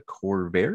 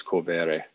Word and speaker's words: Corvere: So what was your inspiration to write Mia Corvair? Am I saying it right? Corvair? Depends. I think the Italian pronunciation is Corvere.